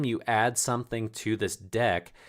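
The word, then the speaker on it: deque: import uh deck here so that's pronounced deck uh so if you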